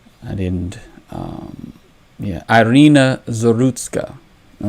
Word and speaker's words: Iryna Zarutska: and I want to pronounce her name correctly. I didn't. Iryna Zarutska. All right, Iryna Zarutska, and the fallout.